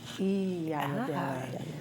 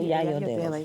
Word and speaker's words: Iyayodele: Iyayodele. That's how you pronounce it? No, Yayodele.